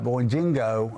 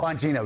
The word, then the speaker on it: Bonino: Dan uh Boingo, I can't pronounce the last name. Bonino, one of our great podcasters, Dan Dan Vonino, a former and future That's right.